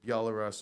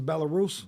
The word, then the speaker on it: Belarus: clouds of drones getting sent out from either Belarus or Russia, wherever, sent everywhere in Ukraine. Like Belarus is Belarus.